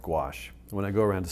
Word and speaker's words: gouache: with a paint called gouache. When I go around to schools and I talk to kids, I say, it rhymes with squash. That's the way they can remember it. So, but gouache is a water-based paint.